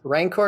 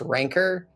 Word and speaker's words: Rancor: on you about this rancor is actually pronounced rancor but i think it sounds way less cool so screw that